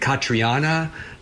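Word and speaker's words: Caitríona: I think it's like Catriona is her first name, Balfe.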